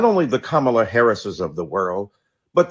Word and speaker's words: Kamala: you call Melania Melania do you call evanka Ivanka then call Kamala Kamala then call vice president Harris vice president kamla Harris soon we pray in